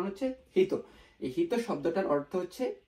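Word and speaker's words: ひと: এই শব্দটার উচ্চারণ হচ্ছে হিত।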